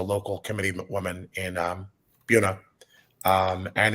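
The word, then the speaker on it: Buena: really been competitive there bua and buav Vista are also at the very top of the list for New Jersey towns with really confusingly pronounced names like no no one coming into the state would ever think of call them anything other than bua and bua Vista and they get there and they're like no not confusing to Micah though so not confusing to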